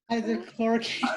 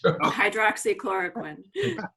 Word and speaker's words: hydroxychloroquine: hydrochloroquine. Hydrochloroquine. Hydroxychloroquine.